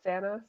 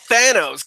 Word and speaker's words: Thanos: And man, it just solidified how much I love Thanos. I love him so much. You called him Thanos. Get out of this episode. His name is Right. Thanos.